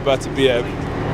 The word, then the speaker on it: Beterbiev: I wonder if Bivol will give Artur Beterbiev, that's how you say his name correctly, yep,